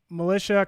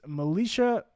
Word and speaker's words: Melisha: to try it again so it's it's militia it's m-e-l-i-s-h-a and then is kind